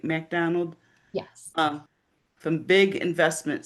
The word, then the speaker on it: MacDonald: MacDonald?